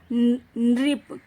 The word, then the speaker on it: नृप: राजा, नृप, नरेश, नृप है इसका प्रोनाउंसिएशन, इसका उच्चारण क्या है? नृप, नरेश, भूपति।